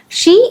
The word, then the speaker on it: je: pronounce എന്ന് നമുക്ക് നോക്കാം ഷ മീൻസ് ഐ ഇത് ജെ എന്ന് വായിക്കരുത് ഷ ഓക്കേ ഴ മീൻസ് ഐ